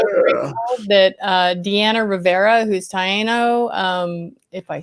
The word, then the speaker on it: Taino: By the way, this is our 17th show, and I'm so grateful that DeAnna Rivera, who's Taino, if I said that correctly. Taino. Thank you, Roy. Roy, you pronounced something correctly.